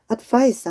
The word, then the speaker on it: advice: advice 하면 얘는 이렇게 D를 알파벳 C를 쓰면 야는 명사로서 충고라는 뜻이고 발음도 advice라고 발음돼요. 그런데 얘를 C 대신에 S를 적으면 advise라고 발음을 하고 이때는 동사로서 충고하다라는 뜻이에요.